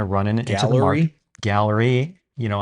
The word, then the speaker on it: Galleri: You know, I've been mispronouncing it as Galleri. I just don't know why. I think that sounds fancier. Galleri. You say potato, I say Simple blood potato. test. Yeah. Galleri, but it's spelled like Galleri.